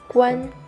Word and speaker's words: 冠: Ну и второе – это гуань. Первый тон. Вы, скорее всего, знали сначала по... с другим тоном. С другим тоном, по слову, например... Гуаньчун. Чемпион. Но здесь он читается... первым тоном. Гуань.